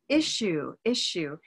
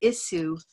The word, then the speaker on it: issue: So the word issue, it's easy to look at those S's and feel like they are telling you to say issue, but we actually do something else there.